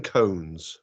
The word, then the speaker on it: koan: Because a Zen koan is something you meditate on. Koan is spelt a little bit differently to C-O-N-E. It's K-O-A-N.